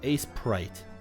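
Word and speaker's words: Aseprite: abbreviated with ASE so the prefix is still pronounced as Ace so it's Ace prite problem solved this was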